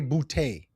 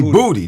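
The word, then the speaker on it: Boutte: I I think you say Booty. They call him Booty. They the announcers pronounce his last name Booty. No, that's that's got a little New Orleans twang on it. It's probably bouty. But they say booty.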